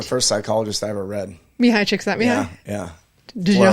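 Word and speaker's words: Csikszentmihalyi: funny way of remembering I was like chicks and knee-highs yeah everybody's like everybody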